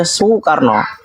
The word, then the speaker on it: Soekarno: ejaan yang belum disempurnakan maka u itu tulis dengan dua huruf o dengan e Soekarno dibaca sokarno tetapi teman sekolah saya